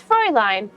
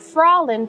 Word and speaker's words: Fräulein: I think it's Fräulein. Yeah, I know. Or I guess it's, well, I said it was lean, but maybe I'm wrong. It could be live. I've been mostly pronouncing it Fraulein because the one character that says it the most, I gave her, you know, this kind of accent, so she says Fraulein.